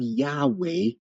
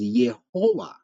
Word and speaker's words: Yahweh: should notice is that they've used the vowels of our domain so rather pronounce Adonai so when we have Yahweh in some manuscripts the error resulted from a failure to understand this scribal practice It produced the pronunciation rendered as yehowa and then this form